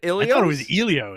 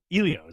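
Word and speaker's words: Elio's: Isn't it Ilios? I thought it was Elios. Ilios. Elios, not Ilios.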